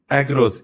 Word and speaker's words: Aegros: Agros.